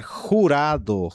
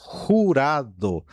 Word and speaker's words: jurado: Por exemplo, posso falar jurado, jurado, né?